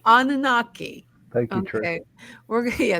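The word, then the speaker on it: Anunnaki: talk about Trish how do you say nanaki anunaki anunaki thank you Trish we're yeah thank you because you know me with my pronunciations um yes we do yes we're gonna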